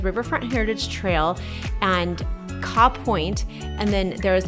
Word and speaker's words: Kaw: Now, really close to there is one of my favorite spots in the metro area called Kaw Point. Kaw Point. Kaw Point. How do you spell that?